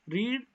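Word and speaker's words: read: एक ही होती है लेकिन फर्स्ट फॉर्म जब होती है उसको हम रीड यूज करते हैं रीड प्रोनाउंस करते हैं और सेकंड से और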